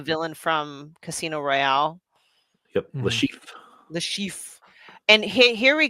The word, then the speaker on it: Le Chiffre: I keep mispronouncing it, but he's the villain from Casino Royale. Yep, Le Chiffre.